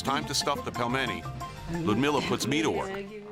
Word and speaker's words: pelmeni: This dish, again, how do you pronounce it? Pelmeni. Pelmeni.